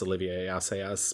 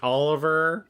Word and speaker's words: Olivier Assayas: I'm terrible with French, and I know it's Olivier Assayas, but my brain's like Oliver.